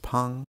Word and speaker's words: Phang: Just a quick note that the director's last name is actually pronounced Phang.